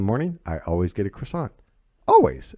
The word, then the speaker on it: croissant: Well, of course, croissants are horrible for you. But they're so good. So good. And it's pronounced croissant. By the way. Croissant. Croissant.